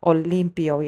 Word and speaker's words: Olympo: So, today I'm here to speak about this series and it's basically called Olympio. Yes, I will spell that out.